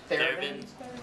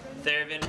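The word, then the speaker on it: Thévenin: Thevenin? Thevenin resistance. It's like Yerevan, which is capital for me.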